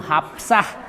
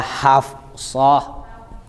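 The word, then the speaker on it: حفصة: pakai p kalau di kalau di tulisan Arab tuh dia Hafsah ini saya hapus ya Bu kan sudah ibu-ibu sudah ngaji jadi makhrajnya harus benar dong Ini bacanya haf hafs hasah ini kan Shad Iya kan kalau dibilangnya hasah itu sudah jadi aksennya Jawa Barat hapsah kenapa oh mau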